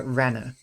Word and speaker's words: Rena: Reena, however, is not pronounced Reena, but rather Rena.